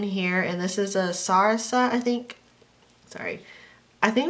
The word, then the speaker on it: Sarasa: using this pen here, and this is a Sarasa, I think. Sorry. I think that's how you say it. Sarasa, that's how I say it.